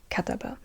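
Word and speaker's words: كتب: And yeah, a hard part about Arabic is that you only have the 3 letters KTB as an example, but it's pronounced kataba.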